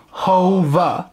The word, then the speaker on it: Hove: Ivo Van Hove, yes, pronounced like that, Hove, has dominated the world theater scene, with productions